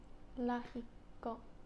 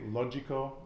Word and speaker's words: lógico: So the G, you could say logico, and someone's going to know exactly what it is that you're saying, but the G is more like a H, so it'd be lógico.